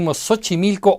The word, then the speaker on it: Xochimilco: mean Xola or xoloitzcuintle; it sounds like S when we say Xochimilco or xylophone, and also like the English X when we say taxi, exam or success.